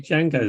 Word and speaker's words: Django: It should be Django the musical. Oh man, that would be something. A bit Unchained. Hey. Sorry. Anyway. Oh yeah. The D is silent.